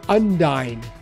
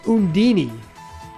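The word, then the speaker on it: Undine: playing tales of symphonia i always called her undyne in tales of symphonia they pronounced it hoondini and i was like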